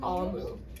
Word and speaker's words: Omu: You have to pronounce it Amu.